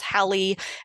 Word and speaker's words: Halley: his name is pronounced Haley, sometimes it's Halley. At the time, he himself probably pronounced it Holly, but if I called him that, no one would know who I meant.